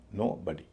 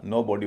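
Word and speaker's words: nobody: breakfast breakfast छोटा ए एन ओ बी ओ डी वाई अलग-अलग बोला जाएगा नो और बॉडी जब मिलके बोला जाएगा तो उच्चारण होगा नो बॉडी ओ का उच्चारण ओ की जगह अ हो जाएगा वैसे इसका नो बॉडी वाला उच्चारण भी चलता है खासकर यूएस में जैसे नोबडी कहा जाता है लेकिन अच्छी बात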